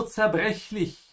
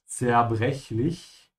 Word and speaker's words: zerbrechlich: Zerbrechlich. Fragile, you have to open your mouth twice, on the CH and the second CH. Zerbrechlich.